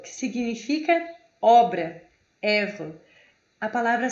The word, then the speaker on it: œuvre: E para finalizar, nosso último slide aqui, a letra O e E é um som aberto, como se fosse E. Como na palavra œuvre, œuvre.